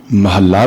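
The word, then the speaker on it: ਮਹਲਾ: साध संगत जी जो महल्ले न अधक लाके उचार करना है महला उच्चारण नहीं करना इसका सही उच्चारण महल्ला होवेगा क्यों करके जिस समय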